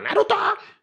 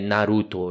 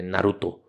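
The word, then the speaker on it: ナルト: que ele vai falar ele não fala Naruto ele fala Naruto então tipo o o japonês ele é sempre oxítono hum a a sílaba forte é sempre a última Então não é lamen é lamen não é Naruto é Naruto entende então e quando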